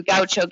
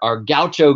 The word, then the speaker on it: gaucho: like a.j so parrisha is is how you'd pronounce it but Gaucho just for those of you who did do kyocho Gaucho is a cowboy so close but no cigar